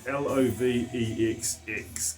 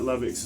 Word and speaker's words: Lovex: Hard to see that right, but it's spelled L-O-V-E-X-X, E-V-E, L-O-V-E-X, Lovex.